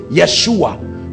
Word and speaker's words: Yeshua: God our salvation that's where they get Yeshua because they pronounce y for Jay Yeshua that's why you say